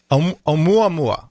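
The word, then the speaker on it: ʻOumuamua: talk to you about Alama how do you pronounce that first of all omu omu mua okay so regarding omua mua for those who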